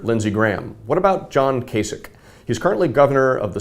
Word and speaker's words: Kasich: well he says uh what Kasich rhymes with basic and and I think